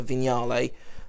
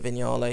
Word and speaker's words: Vignale: is the previous one that his was a vignale um is a vignale should I say apparently that's how you pronounce that word I've always I always thought